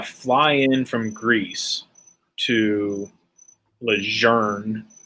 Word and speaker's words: Lejeune: Like when I got out, I had to fly in from Greece to Lejeune. It's Lejeune. It's Lejeune. His grandkid was in fucking 5th Marines, and he pronounces it Lejeune.